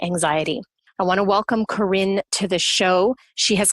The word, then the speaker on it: Corinne: Is it Corinne or Corinne? It is Corinne.